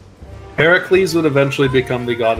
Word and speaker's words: Heracles: represent strength in including Heracles ooh got him and yes I Ed the proper Greek pronunciation it's Heracles are you kidding me